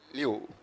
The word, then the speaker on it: Liouville: double L E is pronounced something like yeah. This, how do you read this? Liu. So you read something of this kind. ILLE is pronounced like yeah.